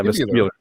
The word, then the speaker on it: vestibular: was a uh and i was i was mispronouncing it vestibular did i do that right yeah this is vestibular yeah vestibular which is also they say it's